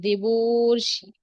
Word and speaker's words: দেবর্ষি: এখানেই আছে, কিন্তু হবে দেবর্ষি, অর হচ্ছে। দেবার্ষি হলে তো আর হতো, কিন্তু না, অর হবে। এবং অর এই যে রেফ, রেফ হয়ে এই শেষের বর্ণের সাথে বসবে, দেবর্ষি, দেবর্ষির উপরে বসবে, দিবর্ষি।